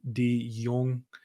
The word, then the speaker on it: De Jongh: It's just his name, Lloyd De Jongh. yeah, Am De I Jong.